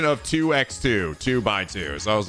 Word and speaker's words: 2x2: By the way, what's the official pronunciation of 2x2 2 by 2?